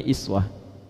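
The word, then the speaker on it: إسوة: Tahu dari mana uswah? Kalau Anda main ke sebagian negara di Timur Tengah, mereka bacanya iswah.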